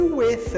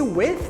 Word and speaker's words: with: with com você e presta atenção na pronúncia desse with Ok esse with termina com th lembra do th que eu comentei antes então Toda vez que você vê esse th tem que colocar ponta da língua entre os dentes somente